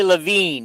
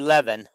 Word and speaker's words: Lavine: It's Cali Lavine, not Cali Leaven. Well, yeah, but it looks like Le when you read it. Yeah, but he looked Well, she don't play. How would he know how it's pronounced? But it it looks like Leaven when you look at it, you know.